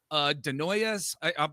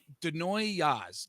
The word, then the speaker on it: Desnoyers: Caleb Denoyes. I'm probably messing it. Denoyes? Desnoyers, I I would say. stink. Oh, of course. I'm putting the S in there.